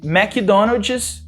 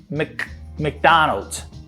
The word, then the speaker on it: McDonald's: one the first one as we say mechadonoges actually you want to say mcdonald's mcdonald's mcdonald's some people might